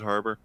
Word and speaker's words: Harbour: really think David har I probably say his last name wrong David haror har harer Harbour yeah David Harbor he he was actually